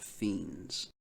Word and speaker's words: Fiends: the album is called fiends and that's spelled like friends but with the r x style right on